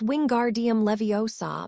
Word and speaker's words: wingardium leviosa: Its wingardium leviosa make the gar nice and long. And remember to say Leviosa, not Levio.